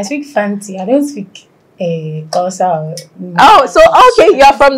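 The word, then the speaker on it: Xhosa: I don't speak Kosa. Oh, so okay. You're from that tribe that... Yes. Apparently Zulus and like other tribes also do the click, but Kosas do it more than...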